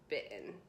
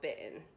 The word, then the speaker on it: bitten: okay, I kind of pronounce the T but really really slightly. bitten.